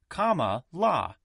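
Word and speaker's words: Kamala: president is kamla Harris she says her first name is pronounced comma La the vice president has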